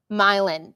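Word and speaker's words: Milan: So, we um uh Oh, it's pronounced Milin.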